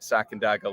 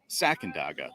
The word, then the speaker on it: Sacandaga: us about this great spot on the Great Sacandaga Lake, Lanzi's Lakeside Tavern, and the brand new Channel Bar, which we will show you.